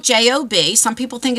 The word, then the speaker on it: Job: a story of The Book of Job um it's spelled j o b some people think it's j but it's pronounced